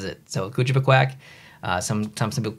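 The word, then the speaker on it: Kouchibouguac: But it's pronounced, even New Brunswickers pronounce it a little bit differently. So I'll tell you how I pronounce it. And maybe even that would be wrong, but I say Kujibikwak. That's how I say it.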